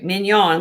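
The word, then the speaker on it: Mignon: Hand hammered min or excuse me, minion. Like filet minion.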